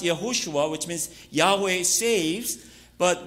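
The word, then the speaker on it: יהושע: So in Hebrews it's pronounced Yehoshua, which means Yahweh saves, but when it is translated into Greek, the name Yehoshua is equivalent to Jesus, name Jesus.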